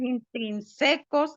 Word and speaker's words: intrínsecos: Dice, contaminación biótica depende de factores intrínsecos y extrínsecos. A ver, Factores a ver, a ver, intrínsecos. a ver. Acento en la I.